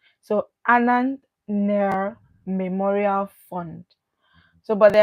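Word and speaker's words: Nair: you a n a n t h near is spelled n a i r so Anan near memorial fund so but they are saying that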